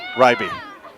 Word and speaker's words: Ryby: Ribby Williams. We'll go with Ronnie. It's easier. Ryby. I got the Ryby? pronunciation from the coach.